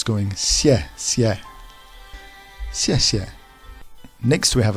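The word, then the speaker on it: 谢谢: But here the letter X is pronounced halfway between S and Sh. So, S. And the tone on the E is downwards. So it's going xie, xie.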